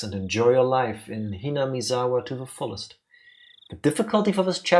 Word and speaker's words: Hinamizawa: Welcome to, how do you pronounce that? Hinamizawa? Hinamizawa, yeah.